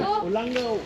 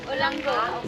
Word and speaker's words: Olango: Olango. Olango. So that's how we should pronounce it.